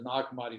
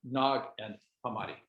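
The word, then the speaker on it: Nag Hammadi: is two words yeah it's not nog and hamadi porter um okay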